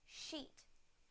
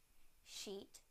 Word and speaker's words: sheet: Now the sh sound in the word sheet. Sheet.